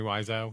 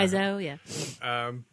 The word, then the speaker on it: Wiseau: essentially is a bad movie, you know, Tommy Wiseau, is that how you say his name? Tommy Wiseau, yeah, Wiseau, yeah.